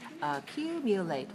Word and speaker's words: accumulate: stress so you know the word accumulate has four syllables where am I where am I pushing myself up where am I stretching my body Q on the second one because that is accumulate four two okay watch me again